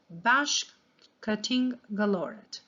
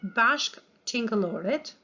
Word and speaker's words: bashkëtingëllorët: The best way to always learn long words is to divide them in syllables. So, the word bashkë means together, and tingëllore is for something that makes a sound.